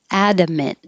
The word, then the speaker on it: adamant: comparison interpreter interpreter adamant adamant hold that t and this word directly spells adam ant admin for short for